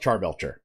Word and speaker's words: Charbelcher: Karbelcher. Are you German? I assume that's how I say it. I am Swiss. Oh, Swiss. Okay. in America, we call it Charbelcher. Okay. I would call it Karbelcher.